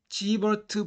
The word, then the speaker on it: Siewert: 사실 g버트 분류가 맞는지 지베르트 분류가 맞는지 모르겠습니다 독일 사람이니까 지베르트 분류가 맞을 것 같은데요 일반적으로 g버트 분류로 부르는 경향이 있어서 저도 지버르트 분류로 부르겠습니다 로마의 황제의 카이사르를 시저로